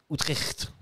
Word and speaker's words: Utrecht: Euh on va passer on va honneur au euh FC Outert qui jouait en 433. C'est comme ça qu'on prononce. Ouais, je crois.